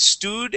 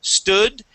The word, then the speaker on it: stood: confusing part of English we have the double O here and the double O here both of them make different sounds okay you had said sted and rooted giving them the same sound this first one is an uh sound St stood and rooted okay